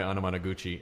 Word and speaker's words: Anamanaguchi: with onomatopoeia that's exactly I asked him how to pronounce their name and they sits like onomatopoeia they see by the way that other voice you hear talking is mr.